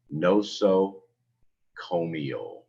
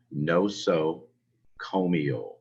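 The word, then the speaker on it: nosocomial: important of all of these the word is pronounced no so comio they say it again no so comio it means a health care acquired infection this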